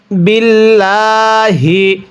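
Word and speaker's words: بِاللَّهِ: জবর না কুল্লুন আমানা বিল্লাহি এই লামটা আমরা চিকন করে পড়ব যদি আল্লাহ শব্দের লামের পূর্বে এরকম জের থাকে তাহলে আল্লাহ শব্দের লামটিকে চিকন করে পড়তে হয় বিল্লাহি ওয়ালমালা এই লামের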